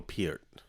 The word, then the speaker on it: Peart: The way he pronounced it is Neil Peart. That's how his name was pronounced.